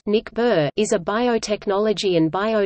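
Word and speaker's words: NICBR: Confederation for biological research ni CBR pronounced mcbird is a biotechnology and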